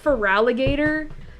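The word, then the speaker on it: Feraligatr: me up that like it's pronounced feraligator and obviously the gator part comes from alligator but it doesn't have the O it just for goes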